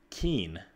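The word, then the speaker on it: Cian: fun he's a guy his name's Keane which is spelled like CIA N and he was super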